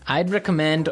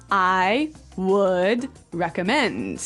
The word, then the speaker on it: I'd recommend: You'll notice that we don't say I would recommend. Right. We use the contraction I'. I'd I'd recommend. I'd recommend.